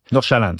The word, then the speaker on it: Nordsjælland: Nordsjælland. Comme le SJ, c'est comme un CH.